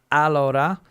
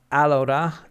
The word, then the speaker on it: Alora: Chris coming in from Alora I'll get that one there correct Alora Accent on the A on the first a uh I think Chris